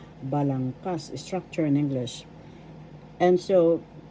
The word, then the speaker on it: balangkas: First syllable ba. Second syllable lang. Third syllable kas. Balangkas. The third syllable has the accent, so that's how you pronounce it. Balangkas.